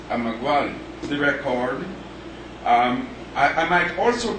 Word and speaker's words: Emeagwali: Philip I'm iguala the pronunciation as the chairman said in more previous meeting if you look at the spelling you would know what the pronunciation is but we ask you to take it from us that the pronunciation is a maguann the record i might